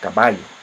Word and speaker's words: caballo: Como o próprio espanhol, caballo. Manteve dois L, só que pronuncia diferente, como LH.